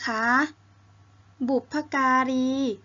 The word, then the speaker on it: บุพการี: โน้ ท มี คำ ที่ 6 นะ คะ บุบผการี คำ ที่ 6 นะ คะ บุพการี ก็ หมาย